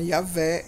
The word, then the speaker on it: Yahvé: maiores ele fala que essa forma yahvé é a mais próxima da pronúncia real até então na época